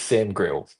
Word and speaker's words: Sam Grill: It is Sam Grill. Grill. Okay. So, like a grill on a barbecue. Like grill in that regard.